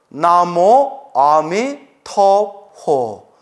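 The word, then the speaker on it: 南無阿彌陀佛: 나무아미타불 이렇게 염불 하죠 중국은 나모 아미 토포 나모 아미 토포 이렇게 발음해요 그렇게 이제 발음은 다르잖아요 우리가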